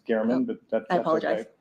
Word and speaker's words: German: German. And there's that Okay. mug. I think it's pronounced Garman, but that's apologize.